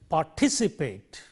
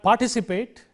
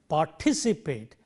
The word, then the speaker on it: participate: pas t see paid applying the rule third syllable from the end one two three so we say participate it is not participate but it is participate and remember when we